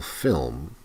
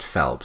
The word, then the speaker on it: Phelps: But what she said here was, I'm going to talk about Michael Phelps, not Phelps, she said Phelps, who's an American athlete.